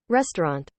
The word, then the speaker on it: restaurant: we just said re right here we have the stress syllable and then we have Tran restaurant let's make it a